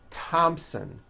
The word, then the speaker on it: Thompson: Although these next words and names are spelled with a TH, they are pronounced as if they were spelled with a normal T, like that.